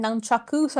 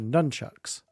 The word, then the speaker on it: nunchaku: The proper Asian pronunciation for nunchucks is nunchakus. It's just short abbreviated for like Westerners for nunchucks.